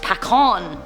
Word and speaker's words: pecan: Pecan is Pecan is pronounced Pacon.